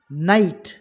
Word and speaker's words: night: Night, K silent.